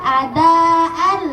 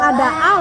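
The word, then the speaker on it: أداءً لله: Kalau dibacanya adaan nggak salah, ya nggak salah, tapi lebih baik dibaca adaal karena tanwin ketemu lam jadi idgham bila gunnah.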